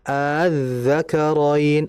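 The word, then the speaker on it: الذَّكَرَيْنِ: Nah, kalau dibaca tasil gimana? Azzakaroin. Azzakaroin. Jadi kayak dua harakat. ya menyeret bacanya itu azzakarin. Jadi tulisan aslinya itu aa cuman a yang keduanya itu di ee di apa ya? Diseret aja azzakarin seperti itu.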